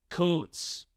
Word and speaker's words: Kuntz: The last name of the German soccer coach we interviewed earlier this week is pronounced Koontz. Koontz. We apologize for our very vulgar mispronunciation. Man, I knew how to say his last name. I just having fun listening to you. To be fair, the man spells his last name Kuntz. Yeah, but he's German, man. It's Koontz.